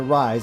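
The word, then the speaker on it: Rhys: Alright, so we're going to get some use out of Reese and Soren, at the very least. Or Rise, I should say. Excuse me, that's the pronunciation I'm going to go with.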